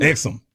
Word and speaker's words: Exum: I can't pronounce Dante it. Exum? Exum.